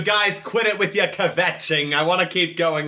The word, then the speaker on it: kvetching: Yes, the inner Jew in me has to say that you don't pronounce it's kvetching, not kvetching.